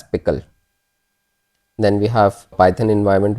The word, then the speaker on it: pickle: And the extension is PKL and it is pronounced as pickle.